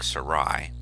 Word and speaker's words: Sarai: given at birth is is probably pronounced something like sarai which means my princess